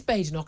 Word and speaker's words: Badenoch: James I'm going to it is Bok I spoke to her husband I got the correct pronunciation but basically neither of